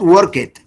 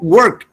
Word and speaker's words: worked: Ken and three of the nurses who worked, not work it, no, who worked, is a T sound at the end, worked with him, died of this virus within 3 days of each other.